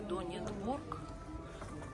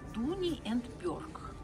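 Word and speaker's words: Dooney & Bourke: Видите, это, конечно, не Донька. Это Donnie and Borg. Donnie and Borg. Вот как правильно.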